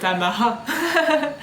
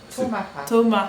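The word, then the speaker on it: tomahawk: après le lancer de Tamaha. Tu sais même pas si ça se dit comme ça. Ouais, c'est Tomaha. Tomaha, ouais. Voilà. Donc après le gros Le K se prononce pas.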